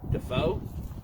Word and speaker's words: Defoe: looking oh cbd yeah how do you pronounce d-e-f-e-o dafoe yes is it william defoe ronald the foe family